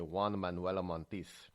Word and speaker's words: Juan Manuel Montes: Juan Manuel Montiz. But if you say it in a Spanish way, you got to say it like Antonio Banderas. You say Juan Manuel Montiz.